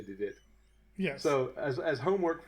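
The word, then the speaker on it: de Witt: saying there are options Johan DeWitt or probably David but it's spelled the wit d-w-w-i-t-t so let's say the uh the we we Anglers can can say DeWitt and everyone from uh Netherland has to say did it yeah so as as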